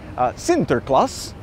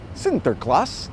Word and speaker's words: Sinterklaas: Nicholas, or as the Dutch pronounced it, Sinterklaas. Sinterklaas, St.